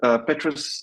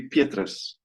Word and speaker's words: Petrus: Yes, Petrus, like Tetris almost, is a completely fine pronunciation. In Afrikaans, it would be Petrus.